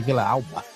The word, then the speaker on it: Villalba: I want to say Villa Alba. That's what it is. Villalba. Because the L is pronounced like different.